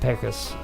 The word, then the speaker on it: Pecos: Yeah, kind of like what Pecos Dave.